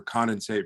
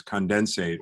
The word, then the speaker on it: condensate: So we'll have to continue some other time the debate over condensate versus condensate, although it appears that there is a bit of a preference for the first syllable being the stressed syllable, but a longer term debate, I think.